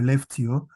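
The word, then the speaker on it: Skellefteå: campus is located in your left Tio which is spelled as s-k-e-l-l-e-f-t-e-a with ring on top then you have to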